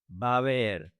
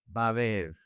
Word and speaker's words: va a haber: Va a haber. Attention here. The two A's connect, and the these A's connect as well. The H is silent. So, you say va a haber.